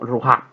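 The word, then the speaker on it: רוח: capítulo 1 versículo 2 es la palabra hebrea ruja, es decir, que se pronuncia como ruja.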